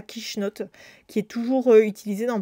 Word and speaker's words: quichenotte: sa dame est donc le kiss me not est devenu en arrivant en france prononcer avec l'accent franchouillard est devenue la quichenotte qui est toujours utilisé